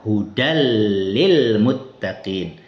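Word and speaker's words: هدى للمتقين: Begitu juga misal tanwin bertemu dengan huruf lam hudan lil muttaqin. Jadi dibaca hudal lil muttaqin.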